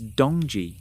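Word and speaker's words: 동지: The Korean name for the winter solstice is dongji. Essentially the same pronunciation as the Chinese dongji.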